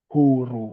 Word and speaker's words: huru: is a Freedom Movement so we pronounce the word as it is in the word mood we say huru Oru then we also